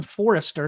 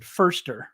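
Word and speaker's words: Foerster: Chris fer said fer I always want to call him Forester because that's what it looks like and I know somebody with the last name Forester but he does pronounce it firster right yeah firster yeah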